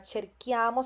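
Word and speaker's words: cerchiamo: Porque el sonido este del care se tiene que mantener en la en la conjugación y yo cherco tu cherqui, ¿no?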